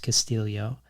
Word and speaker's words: Castillo: in this book um which looks like Castillo but is pronounced Castillo because it feels like